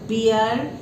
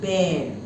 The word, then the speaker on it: bear: both plants and animals bear and please see the pronunciation it is not beer it is bare squirrel and human being